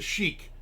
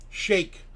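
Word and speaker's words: Sheik: The chic as in the iron chic. Shake. You might you might uh say if you want to say it right, but they say the chic.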